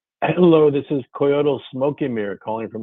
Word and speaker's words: Coyotl: Hello, this is Coyote Smoke and Mirror calling from Los Angeles.